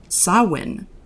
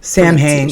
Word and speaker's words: Samhain: because the ancient gaelic festival of sawin which is spelled s-a-m-h-a-i-n very different samhain yeah i've been saying it samhain forever me too so it's always dead wrong oh get it dead